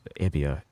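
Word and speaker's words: Euboea: them I'll give them EIA, though. I think that's how it's pronounced. That's how my history teacher used to pronounce it. It's Ebia. E U B O E A.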